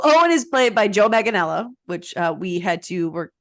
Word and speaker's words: Manganiello: love, like, I mean, How do you pronounce his last name? Joe Maggiano?